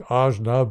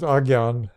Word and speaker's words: Ajna: The forehead center, called the third eye quite often, or AJNA, which we pronounce ajna, but is pronounced agyan.